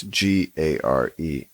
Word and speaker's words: Garecht: I think it's Garich. It's Garecht. Kind of a weird spelling.